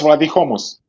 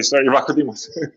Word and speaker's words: Vlachodimos: Is that how you pronounce his name? Odysseus. Odysseus Vladihomos. Odysseus Vladihomos. Yes. Yeah, what Vlachodimos. Sorry, Vlachodimos.